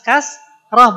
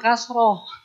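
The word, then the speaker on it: كسرة: kasrh kan baru kita bahas kasrah bukan kasroh nah jadi kasrah biasanya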